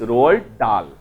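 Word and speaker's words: Roald Dahl: बुझाउची अक्षर जनरेट होतबा शब्द को बुझाउची एटा साइलेंट डाल नुहे है कि डाहाल नुहे ठीक अच्छे इट्स रोअल्ड डाल मन रहा कथाटी इट्स रोअल्ड डाल ही इज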